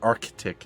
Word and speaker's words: Arctic: were obviously in the Arctic, or the Arctic, if you want to say it properly.